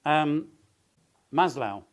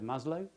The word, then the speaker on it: Maslow: And then Maslow. I'm told that's how he pronounces it. I would have said Maslow.